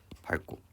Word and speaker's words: 밟고: 요 활용형일 때 뒤가 자음이 오는 경우일 때 밟고 이렇게 발음을 하게 된다라는 거예요.